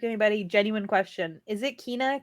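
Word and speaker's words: Kena: trying to correct anybody genuine question is it Kina Kenna like how do you pronounce that like it's it's it's Cana okay so I pronounce it correctly yeah same thing I said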